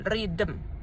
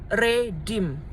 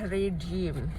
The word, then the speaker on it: redeem: Redem bukan ridm ya redem ya kan dia double e ya. Ya tapi gitu kalau aku udah koreksi di kasir ridm bu ya. Cara bacanya adalah redeem.